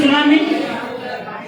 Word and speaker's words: tsunami: What is silent in tsunami? Tsunami, sir. T is silent.